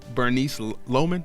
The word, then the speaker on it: Bernice Loman: So I'm here with Bernice Loman. Am I pronouncing it right?